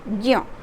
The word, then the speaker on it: ज्ञ: ज्ञ तो सुनाई ही तो नहीं दे रहा है, ज का उच्चारण ही नहीं आ रहा है, लेकिन हमारा ये